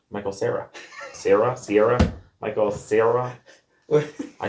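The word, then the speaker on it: Michael Cera: You said Michael Sierra. Michael Sarah. Sarah. Sierra. Michael Sarah. I can't even pronounce his name.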